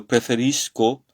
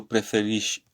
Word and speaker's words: preferisco: Alors on dit io costruisco, io preferisco, c'est pas io preferisci, je sais pas. Donc voilà, il faut bien prononcer et comprendre la prononciation en italien. Le SC, c'est ch, c'est le son ch, c'est pas che, c'est ch, ok? Che et che, c'est différent, hein.